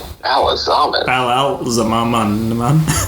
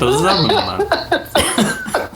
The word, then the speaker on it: Ba'alzamon: Ba'alzamon. Which I thought was actually... Wait, that's it. What are you saying? Are you fucking with me right now? Well, no, Tom, that's how you say it. Ba'alzamon.